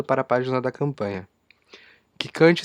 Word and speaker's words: Kickante: Quicante se escreve Kickante.